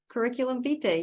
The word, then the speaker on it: curriculum vitae: Yeah, and you might have to help me with the pronunciation because it's Latin, right? It's circumvite or vitae? Curriculum vitae, yeah.